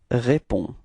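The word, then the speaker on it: réponds: get the form repeat repon all right so the funny thing is that you've got to write this DS but of course as usually in French you don't pronounce it okay so it's repon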